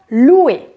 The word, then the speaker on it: loue: prononce loup je loue je ne prononce pas le E tu loues je ne